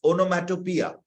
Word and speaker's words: onomatopoeia: অনেকে এটার উচ্চারণ এখানে দেওয়া আছে ওনোম্যাটোপিয়া, এখানে আমি দিয়ে দিয়েছি উচ্চারণ কি রকম হবে। So please, ওনোম্যাটোপিয়া।